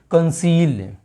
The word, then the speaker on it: conceal: जैसे यहाँ पर CONCEAL, तो हम यहाँ पर इसको क्या प्रोनाउंस करेंगे, कंसील। क्या करेंगे, कंसील। तो यहाँ पर सी को का रीडिंग किया गया है, क्या रीडिंग किया गया है, का, और यहाँ पर सी को सा।